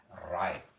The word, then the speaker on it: write: ya wash menulis itu write. Jadi W-nya tidak usah dibaca tinggal write seperti ini. R A I T bacanya write.